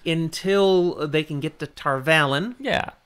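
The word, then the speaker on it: Tar Valon: they can get to Tarvalin. Yeah. Or perhaps Tarvalon. Nope, you said it right the first time.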